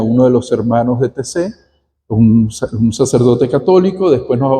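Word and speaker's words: Taizé: lugar que se llama TC, se escribe Taicé. Un lugar que se llama TC, se escribe Taicé.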